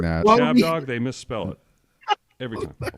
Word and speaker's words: Chab Dog: Chad, it's not Chad Dog. All of our listeners are retarded. It's Chab Dog.